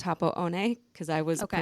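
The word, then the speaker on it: Happo-one: And I only skied Happo One, which looks like Happo One. I learned it's pronounced Happo One because I was Okay.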